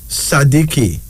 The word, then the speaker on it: Sadiki: means leopard and our final male name is sadiki sadiqi s-a-d-i-k-i sadiki it is a Swahili name Muslim name